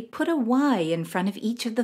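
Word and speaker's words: yī: these correctly put a y in front of each of the final sounds the first one Yi is similar to the E in he in Chinese Yi means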